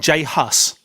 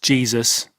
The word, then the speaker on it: J Hus: 12 of May 2017 Jay Haas not Jesus he you say you heard him talk to Tony pronounces his own name as Jay Haas within one of his